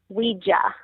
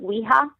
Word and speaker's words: Ouija: It's actually Ouija, or as I think the Spanish people call it Ouija. Okay. If you talk to any Hispanic, that's basically how they would say it, is Ouija.